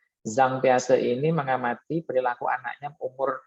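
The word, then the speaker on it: Jean Piaget: Ini yang nggak bisa baca pakai pijet gitu bahasa pembacanya ya. Zhang Piaze ini mengamati perilaku anaknya umur 0.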